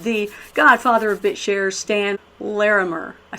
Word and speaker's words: Larimer: We have the Godfather of Bitshares, Stan Larimer.